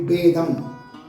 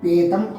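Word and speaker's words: பேதம்: Here, again it's pa pronounced as ba here, de, becomes da becomes ta here. Bedam, be, da, ma, bedam. Difference. It could be read as pedam also, but it does not make any sense.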